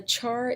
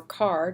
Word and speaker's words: char: discussion of data types the Char data type or character data type or car depending on how you choose to pronounce it holds a single character